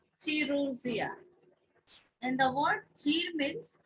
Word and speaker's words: chirurgia: So here ch should pronounce K in Latin, and in Greek that is ch, chirurgia.